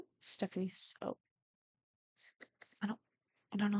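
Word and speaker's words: Stephanie Soo: For some reason, I thought it was Sue, and then I'm like, no, Sue sounds wrong.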